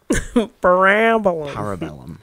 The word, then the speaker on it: Parabellum: Parabellum, as it's actually pronounced by the glorious Ian McShane, is a wonderful movie, and I can't wait for any more installments in this franchise.